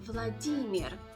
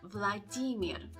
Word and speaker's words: Vladimir: now the Earth sound Russian language doesn't know this sound and therefore you need to pronounce it as Vladimir here at the end Vladimir sorry to interrupt this